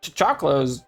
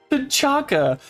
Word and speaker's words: T'Chaka: Like, they already know, like, oh, T'Chakla's... T'Chakla. That's not how you say his name. T'Chaka.